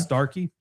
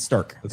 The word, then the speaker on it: Stark County: Starky. It's your neighbor. It's Stark County. That's how I pronounce it. It's a region thing.